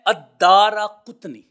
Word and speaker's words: الدارقطنی: تا کے اوپر جزم ہے یعنی سکون ہے، پھر اس کے بعد نون کے نیچے زیر ہے اور پھر اس کے بعد یا آتی ہے نسبت کی۔ تو یہ ہے الدارقطنی، یہ اس کا تلفظ ہے۔ اب اس تلفظ کو